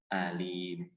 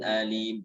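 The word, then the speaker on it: أليم: Fabasyirhum bi'adzabin alim. Awas dibacanya alim, jangan alim. Ya, itu hamzah, aqsal halqi.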